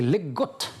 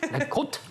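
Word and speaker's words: leg godt: Et c'est Legot. Oui, voilà. Alors, mais quel accent? Je vous laisse prononcer parce que moi c'est certifié. Legot. Qui veut dire joue bien en danois.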